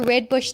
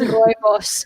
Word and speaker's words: rooibos: I've got some friends who do drink red bush, but when they bring it up, I'm like, no. It's rooibos. Say it right, people. It's rooibos, and it's from my country.